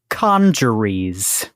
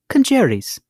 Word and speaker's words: congeries: are okay so Emily your word today is conjures it's spelled c o n g e r i e s conjures or if you're British keres hello keres like like marry marry quite keres yeah quite keres okay but American is